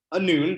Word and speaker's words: Anun: so my name is anun that's the english pronunciation at least it rhymes with moon and like janae said